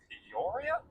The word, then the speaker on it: Peoria: Um specifically speaking, it's about a seven hour because this one's in Poria. Yeah. Is that how you pronounce it?